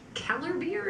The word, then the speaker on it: Kellerbier: the genesee specialty crayon orange keller beer is that how we say it like for seller you got it and